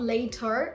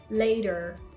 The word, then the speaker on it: later: Or the word later. Later. Not later, no. Later. It's a very soft da. It's not later, no. Very soft.